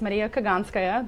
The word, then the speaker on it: Mariya Kaganskaya: So my name is Maria Kaganskaya. That's how you pronounce it in Russian.